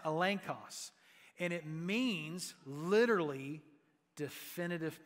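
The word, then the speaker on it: ἔλεγχος: New Testament that it's used here and it's pronounced elenos and it means literally definitive proof so if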